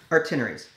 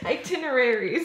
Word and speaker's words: itineraries: what are these called itineraries that not correct what is it itineraries you're forgetting a whole syllable shut up you know